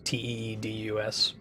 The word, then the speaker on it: Tidus: Tidus's name the way I think it's supposed to be pronounced. Chat voted on naming Tidus Teedus.